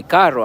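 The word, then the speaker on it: carro: See, when I say caro, I'm I'm rolling my arms.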